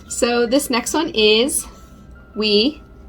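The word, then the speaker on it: 위: So this next one is we. It's pronounced we.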